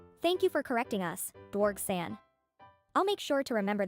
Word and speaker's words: Dwarg: Dwarg619 says, hey, my name is pronounced D-Wargs. Thank you for correcting us, Dwarg-san.